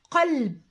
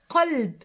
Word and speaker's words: قلب: زي كلمه قلب. قلب، شايفين القاف قا القاف مفخمه غليظه.